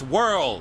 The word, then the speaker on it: whirl: But there is an H. You don't pronounce it. The H is silent like you should be.